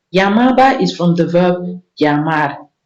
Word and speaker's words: llamaba: So for Spanish speakers, when they see LL, when a word starts with LL, they don't say no, they don't use L, they use say it like you want to say why. Yeah, like the verb, like the word, like the sound in yo-yo. So why they use like why. So that's llamaba.